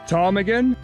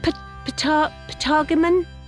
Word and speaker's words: ptarmigan: Ptarmigan? Ptarmigan? Patagonium? Silent P, is it?